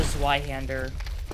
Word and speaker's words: Zweihänder: Make use of your reach advantage with the Zweihänder. Is that the correct pronunciation, or... It's called the Zweihänder.